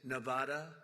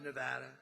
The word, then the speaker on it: Nevada: And don't ever mispronounce the name. You're not allowed to do that. You mispronounce the name, you got a problem. You ever see somebody when they say it's Nevada? Nevada? No, they're in deep trouble.